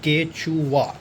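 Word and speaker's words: Quechua: लोगों ने इसको ख़रीदा डेकाथलन से एंड इसको प्रोनाउंस किया जाता है केचुआ।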